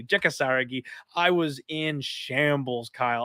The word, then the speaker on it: Jeka Saragih: Jeka Saragih.